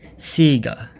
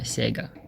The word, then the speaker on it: Sega: the company insists that the company's name is pronounced sega not sega now we have adidas boston bombing in 2017